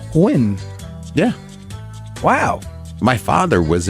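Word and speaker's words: Nguyen: gu y en that's Gwen it's pronounced win yeah Wow my father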